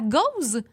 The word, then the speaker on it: Gose: dit on se parle de la Goose la Goose si je le prononce bien la cause exactement on parle de la Goose qui s'écrit